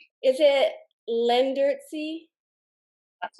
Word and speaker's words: Leendertse: Paul, I wanted to ask you how to properly pronounce your last name. Is it Leendertse? That's not too bad. It's Leendertse. Sorry? Leendertse.